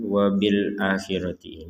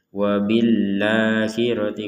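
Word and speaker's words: وبالآخرة: ada yang perlu dijelaskan wabil akhirati ini jangan sampai kita membaca diambung ya atau di baca seakanakan huruf huruf hamzahnya ini nanti dicampur dengan lam sehingga terbacanya wabahirti wabahirti jadi jangan dibaca la tapi dibacanya a Jadi kalau keenakan baca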